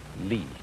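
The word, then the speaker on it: 理: wood or the fiber in muscle and it's pronounced lee this is a character then meaning really the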